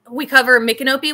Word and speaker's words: Micanopy: but we cover Micanopy, which a lot of people look on the map and they say it's spelled like my canopy.